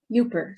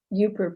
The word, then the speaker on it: Yooper: you know don't know the name derives from the pronunciation of the acronym for the upper peninsula up yooper someone from the u.p because yuper is well